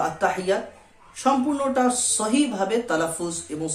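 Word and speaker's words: التحيات: এক আলিফ পরিমাণ টান দিয়ে পড়তে হবে তো আত্তাহিয়াতু আত্তাহিয়াতু লিল্লাহি লিল্লাহি আত্তাহিয়াতু লিল্লাহি ওয়াস সালাওয়াতু ওয়াস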